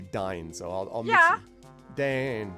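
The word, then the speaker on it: Dáin: well the thing is i still hear all the time i hear the audio version says still says dane um but you want to say dine so i'll just yeah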